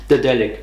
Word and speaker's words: Daedalic: Also, wie spricht man Dedelic eigentlich aus? Sag das mal jetzt mit deinem Donut-Zeug im Mund. Richtig. Dedelic.